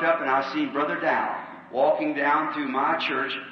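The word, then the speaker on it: Daugh: Not really in his name, he's a German, D-A-U-G-H, and I pronounce it Dow, see.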